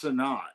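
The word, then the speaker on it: Sinnott: when here we got our tight end Ben sonat from Kansas State okay it's sonat all right because this is my comic book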